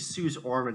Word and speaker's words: Suze Orman: CNBC, I think Suze Orman is how you pronounce her name.